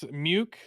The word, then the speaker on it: Muke: Oh, somebody muke that rhymes with puke said, "What's that piss in a can?"